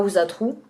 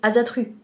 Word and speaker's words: Asatru: comment le prononcer donc ça se prononce à auzat trou mais nous avec notre langue originelle on aurait dit ata truc alors on a ce